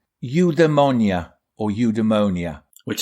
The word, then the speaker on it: eudaimonia: So Greeks would pronounce it eudaimonia.